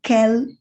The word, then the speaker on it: quel: The spellings might change, but the pronunciation is the same. It's quel. And the translation, in one context, it will be what.